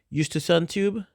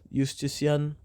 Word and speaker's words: Eustachian: It's the third part, which deals with the seeing the I would go down from into the Eustachian tube, Shalakia, and then I could go up